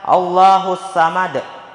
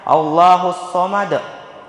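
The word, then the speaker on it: الله الصمد: allahusad di ayat ini terkadang ada orang yang membaca allahusad padahal yang benar allahus Somad di situ huruf bukan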